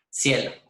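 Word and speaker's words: SciELO: Entonces, por lo menos tenemos Scopus y tenemos, yo no sé cómo se pronuncia, si se pronuncia cielo o cielo. Cielo.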